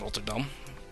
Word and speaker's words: Rotterdam: I should just stay with the Dutch pronunciations of these cities, since I can do them. Not try and pronounce them in English, it's weird. Amsterdam and Rotterdam. That's the way.